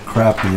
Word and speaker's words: crappie: like it a lot crappie's always one of the best fish so you said someone said they pronounce it crappy instead of crap on the East Coast oh crappy we say crappie over here yeah because when you